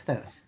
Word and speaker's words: Thoth: And Halls of Amenti, if you're not familiar with that, are originating from the Emerald Tablets of Thoth, or Thoth, depending on which way you pronounce it.